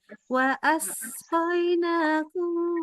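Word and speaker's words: وَأَسْقَيْنَاكُمْ: Oke, sinnya agak tebel. Wa asqainakum as tebel. Terus ya hati-hati. Lebih tipis lagi. Ya, Lagi coba pangkal lidahnya wajib turun banget. Ya. وجعلنا فيها رواسي شامخات وأس وأسقيناكم ماء فراتا. Diulang dari wa asqaina. Asnya harus lebih desis lagi ya.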